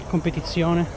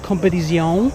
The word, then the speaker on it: Competizione: And one of my favorites of all time, the 812 Competizione. Remember, it's not competizione, it's competizione. That's how it's pronounced, guys.